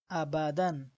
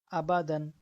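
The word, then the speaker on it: أبدا: তো এখানেও দেখেন, এখানে আলিফ আছে কিন্তু আলিফের উপরে কোনো নিচে কোনো কি নেই, হরকত নাই, তাই এটা উচ্চারণের মধ্যে আসবে না, তবে এটা লেখা এবং বানানের মধ্যে আসবে। আবাদান।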